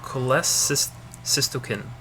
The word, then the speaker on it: cholecystokinin: And then we have secretin and CCK, which is cholecystokinin. Let me make sure I'm pronouncing that.